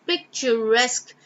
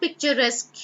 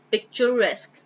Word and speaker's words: picturesque: views and lovely picturesque the pronunciation is picturesque it's not picturesque you guys repeat after me picturesque I hope it's absolutely